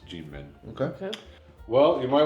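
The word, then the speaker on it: Kinmen: And both of them are come from an island called Gmen. And it's spelled with a K there, but it's not Keen. It's Gmen.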